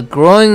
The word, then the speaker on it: growing: A growing number of unemployed workers. 처럼 말이죠. Growing. Grow 할 때는 오, 우 발음입니다. 우까지 소리를 내줘야 되죠. 대부분의 학생들이 오, 우 발음할 때 우까지 소리를 안 냅니다.